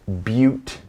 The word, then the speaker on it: Butte: Pilot Butte, it's pronounced Butte, okay, is, well, check this out.